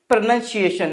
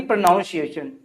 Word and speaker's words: pronunciation: तो क्या बोलेंगे? प्रोनाउंसिएशन, ना कि प्रोनाउंसिएशन।